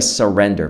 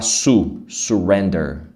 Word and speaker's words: surrender: Essa palavra que que significa surrender? Vamos ver. Primeira coisa, a pronúncia dela. Você não vai falar su surrender. Surrender não. Não é su, é s. Surrender. É um som de a.